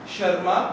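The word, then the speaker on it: Tschermak: पहला नाम था Hugo de Vries, शर्मा T silent है, कोरेन।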